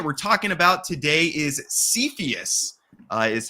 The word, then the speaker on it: Cepheus: the project that we're talking about today is cepheus is how it's pronounced so I'm excited to talk through this